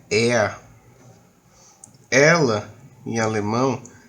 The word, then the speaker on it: er: Ele, que é er, a gente pode pronunciar o R aqui como ea, ok? Então, no alemão, toda terminação de ER vai ficar como fosse um A, certo?